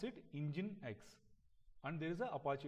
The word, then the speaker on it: Nginx: Okay, it is spelled as Nginx, but we pronounce it Nginx.